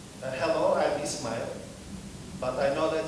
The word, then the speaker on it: Ismail: I said, "Hello, I'm Ismail, but I know that it's not easy to pronounce it. Some of my friends call Ismail, Ismail, and some of my friends call me iSmile, you know."